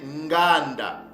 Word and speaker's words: Nganda: mes frères et sœurs Cees mot-là se prononce ou se prononcer Nganda ok Nganda donc le mot